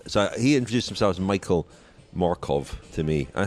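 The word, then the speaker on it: Mørkøv: to go on so he introduced themselves Michael Markov to me I said Michael Markov we've been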